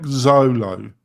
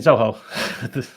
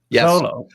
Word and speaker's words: Zoho: So more like Zolo maybe. Solo is do you mean Zoho? Pardon? Zoho. Zoho. Zoho. Yeah, Zoho. Sorry, it's my pronunciation.